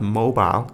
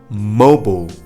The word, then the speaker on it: mobile: Words ending with ILE, there is no pronunciation of I, like mobile. It's not mobile, it's mobile, mobile, okay?